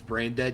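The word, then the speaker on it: Brejnded: bra dead in Swedish spelled like b r e j n d e d say brain dead yeah ugly tape yeah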